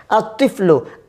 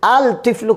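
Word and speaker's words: الطِّفْلُ: আতিফলু, আল তিফলু কোনোদিনও হবে না।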